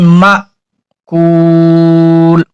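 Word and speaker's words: مأكول: বলতে হবে কাস ফিম মাকুল একটু ধাক্কার মতন দিলেই হবে অনেকে বলে মাক্কুল এই মিমটা কাফের সাথে মিলিয়ে ফেলে এটা হবে না মা মিম আলিফ জবর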